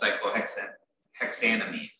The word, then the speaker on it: cyclohexanamine: So instead of cyclohexanol, it's cyclohexanamine, which sounds like you're adding an extra syllable.